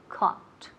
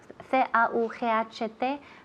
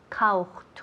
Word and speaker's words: caught: Se escribe A-U, C-A-U-G-H-T. Remember, A-U-G-H, O-U-G-H. Ese G-H, we don't say auch, auch. Muchas veces oigo caucht or caucht. No, caught, caught. Como si fuera solamente O-T. ote, caught.